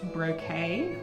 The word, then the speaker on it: Brockett: Brockett, I'm told it's pronounced brocade.